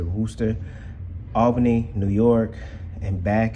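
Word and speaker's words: Worcester: to russa massachusetts which it looks like worchester but they pronounce it rooster albany new york and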